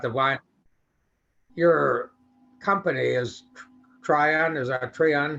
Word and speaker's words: Tryon: wine, your company is Tryon, is that Tryon? How do you pronounce that? Yeah. Try on, yep.